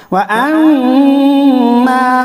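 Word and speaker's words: وأما: फ़हुव फ़ी ईशतिन रादियह वअम्मा मन ख़फ़्फ़त मवाज़ीनुहु, मवाज़ीनुहु। हिज्जे यूं करेंगे, वाव ज़बर वा, हमज़ा मीम ज़बर अम, व अम, मीम अलिफ ज़बर मा, व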